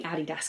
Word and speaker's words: Adidas: This is my little Adidas, or as the Americans say, Adidas. It's definitely Adidas, guys, sorry.